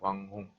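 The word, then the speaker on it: 网红: 왕홍. 네, 왕홍. 뭐 왕홍. 네, 제가 중국어를 나왔기 때문에 언어 발음으로 알려드리면 왕홍이죠. 왕홍.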